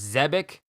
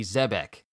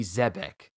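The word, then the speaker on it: Zebec: I thought it was Zebek. I called it Zebek with a B-I-C at the end. Even though it's B-E-C, so it should be Zebek. Rox D. Zebek.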